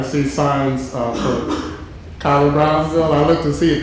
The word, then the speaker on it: Brownville: neighborhood of Kyla Brownville most people in Savannah when you hear them pronounce it they say Brownsville Brownsville and he was and and he was adamant he said it's Brownville and uh and I